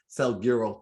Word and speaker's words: Salguero: saint so it's my pleasure to welcome selgiro to the show hope i said your name